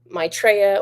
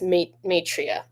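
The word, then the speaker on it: Maitreya: So this message is from El Moria, Lady Natada, and Maitraa or Matria. I always say it wrong. It's Matria. Yeah, it's Matria, but I always want to say Maitraa.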